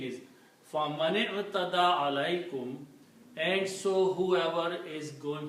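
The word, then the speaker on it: عليكم: And this is actually alaykum. Write down together, it will be pronounced as alaykum.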